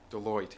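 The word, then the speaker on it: Deloitte: that um some the the commission's uh uh Delawette is the company that uh did the uh how to pronounce the name. Yeah. Um what's that? Deote.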